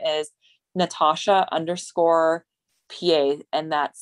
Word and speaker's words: Peay: competitor and my instagram name is natasha underscore pa and that's spelled n-a-t-a-s-h-a underscore and then my last name